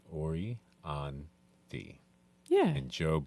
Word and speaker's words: Orianthi: They said say it like it's spelled Orianthi.